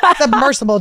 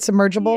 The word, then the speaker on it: submersible: She doesn't want it to be a fast, submersible death. Did I say it right? Submergible? Yeah. What is it? Submersible. You said it right the first time. Submergible, I keep saying.